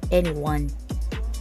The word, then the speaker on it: 2NE1: Ang pronunciation nito sa South Korea sounds like N1.